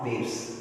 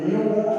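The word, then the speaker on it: ν: First நியூ அப்படின்னு pronounce பண்ணுவோம். இது வி இல்லை, நியூ.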